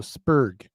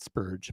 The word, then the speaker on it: Spurg: Hard G, not a soft G. So Spurg, not Spurge, but Spurg, right?